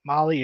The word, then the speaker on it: Mahle: And for those listening on the podcast, Molly is spelled Mahle.